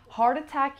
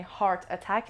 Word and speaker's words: heart attack: پرونانسیشنش هم دقت کنی، هارت اتک نمیگم، گفتیم وقتی کانسننت میاد بعدش یه واول میاد میچسبونمش به هم، هارت اتک، هارت اتک، هارت اتک.